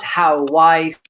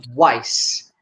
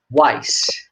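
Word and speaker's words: Houaiss: his name please not how wise how ways i mean simply weiss uh this is a name of lebanese origin and it should be pronounced in portuguese simply weiss okay antonio weiss uh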